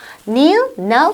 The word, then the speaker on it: kneel: kneel, knelt 해도 되고 kneel, knelt 해도 되고 그리고 K는 발음 나지 않고요. silent 사운드죠.